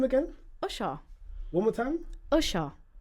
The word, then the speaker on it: Usher: Usher. Say umbrella for me. Umbrella. Umbrella. Now say Usha. Usha. Say unicorn for me. Unicorn. Is it Usha again?